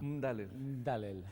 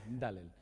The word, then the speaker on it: Mdalel: ¿Cómo se pronuncia? Mdalel. Mdalel, de origen Árabe, árabe.